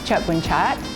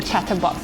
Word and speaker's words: Churdboonchart: My surname is Churdboonchart. So a lot of people call me Chatterbox. They can't pronounce it properly. They call it Chatterbox.